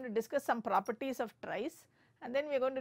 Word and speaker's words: trie: let's look at tries it's uh it's pronounced as tries I'll tell you why